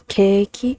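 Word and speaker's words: ケーキ: So like cake, there's no real Japanese word for cake, so they use katakana to spell it keiki because it's cake, so it's keiki.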